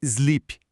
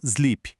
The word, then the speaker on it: sleep: É sobre o som do S. Em verbos como sleep, slide e speak, o som inicial é um S assoprado, como em sapo. É sleep e não sleep. É speak e não speak.